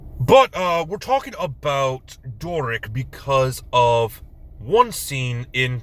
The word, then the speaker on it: Doric: want to call her Doris but it's a c not an S it is Doric I even had to